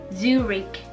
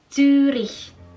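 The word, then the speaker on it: Zürich: Karena dalam bahasa Jerman huruf CH yang di belakang itu tidak dibaca sebagai huruf K, tetapi sebagai huruf H. Jadi cara bacanya yang lebih tepat yaitu Zurich. Zurich.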